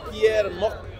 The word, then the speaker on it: Pierre: it's like he said it's Pierre Pierre that's how you say it right check it out